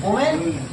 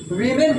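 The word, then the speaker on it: women: ठीक है, इसको क्या है ये क्या लिखा हुआ है? वोमेन। और इसका क्या लिखा हुआ है? वीमेन पढ़ते इसको, वीमेन। क्या? वीमेन, प्रोनाउंसिएशन सही रखो, वीमेन। ठीक है, अब समझो, अब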